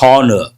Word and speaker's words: honor: Honorary, and H is silent, and honor, not a honor.